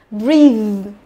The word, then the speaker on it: breathe: Và bên này sẽ đọc là breathe, breathe, nhớ chưa. Đấy, một cái là E, một cái là Y.